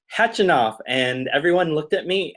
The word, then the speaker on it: Khachanov: I was like, it's Khachanov. And everyone looked at me, and an umpire was like, no, it's Khachanov. And I'm like, I don't think it's pronounced with a K. They don't have a K.